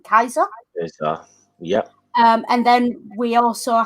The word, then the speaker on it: Caesar: But as we know, there is no soft C in Latin. It would have been Kaiser.